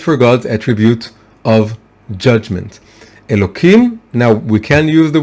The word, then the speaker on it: Elokim: name is of course elokim right it's written within with a hey with an H but we pronounce it with a K as I said not